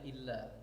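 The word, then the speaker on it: إلا: Jadi kalau bentuk tulisannya alif lam alif gitu bacanya illa. Jadi kalau bentuknya kalau bentuknya lam kemudian disambung dengan ya itu baru baca ila. J kalau bentuknya alif kemudian lam alif itu mesti bacanya illa tasdid.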